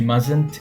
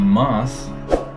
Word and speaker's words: must: start with vowel so we don't pronounce the T in must or mustn't when the next word start with consonant you mustn't be late